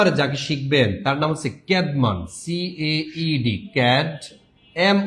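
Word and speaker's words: Caedmon: এই ক্যাডমন উচ্চারণটা হবে এরকম।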